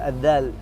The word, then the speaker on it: ذال: مثل النطق في الثاء ينطقونها ساء. نعم. في الذال ينطقونها زاء.